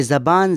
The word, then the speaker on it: زبان: اس سوال کا سادہ جواب تو یہ ہے کہ دونوں تلفظ ٹھیک ہے، لیکن تھوڑا تفصیل میں